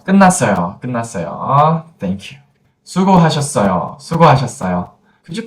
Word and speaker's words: 수고하셨어요: 수고하셨어요. 수고하셨어요. Could you pronounce this phrase?